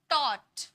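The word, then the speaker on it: taught: पढ़े cause डॉटर okay इसी तरह से टोट है ना ए यू को हम क्या पढ़ते हैं टोट हमारा स्पेलिंग क्या होता है टट पढ पढ़ा पढ़ाया है ना टीच का second form third form थॉट तो ए यू को हम किस में पढ़ते हैं अ में पढ़ते हैं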